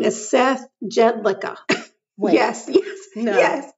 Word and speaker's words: Jedlicka: His name is Seth Jedlicka. Wait. Yes. Yes. No. Yes. Yes. His last name is Jedlicka. Not Er. not. Wait. Not Licker. Is his name Seth Jedlicka or Seth Jedlicka?